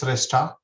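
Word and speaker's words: Shrestha: your business address okay my last name is resta s-h-r-e-s-t-h-a and my business address is one zero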